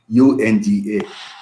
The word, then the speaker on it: UNGA: nations general assembly so in short we pronounce as anga unga united nations uh general assembly